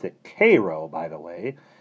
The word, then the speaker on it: Cairo: They pronounce it Cairo, by the way.